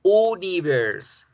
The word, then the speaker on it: universe: si aparece la jota y como vamos a pronunciar la jota en la pronunciación como una y mírenla si están viendo cómo se dice universo se dice y universe universe lo mismo con universidad lo